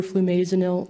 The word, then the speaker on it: flumazenil: maze until the way i can remember flumazenil is it rhymes with buzzkill so it temporarily suspends